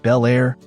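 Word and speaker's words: Bel Air: For those in the know, it's pronounced Belair, and few names in the classic car world turn heads like a 57 Chevy.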